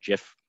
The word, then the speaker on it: GIF: With an animated GIF, the fact that it loops, or sorry, GIF, as it's sometimes pronounced, the fact that it